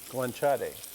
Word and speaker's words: guanciale: the how do you say this again guanciale go on chatty yeah so we're gonna give like nice sear